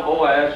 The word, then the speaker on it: Boaz: know how to spell Boaz. You've spelled it B-O-O-Z, and that's Booz, that's not Boaz."